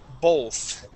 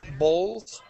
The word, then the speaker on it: both: Dennis, it is pronounced bow, both. And it's almost like we put an L there, both, both.